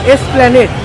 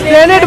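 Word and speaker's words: Esplanade: কি উচ্চারণ করলি তুই? এসপ্ল্যানেড। হ্যাঁ এসপ্ল্যানেড, আমি স্প্ল্যানেড বলেছিলাম।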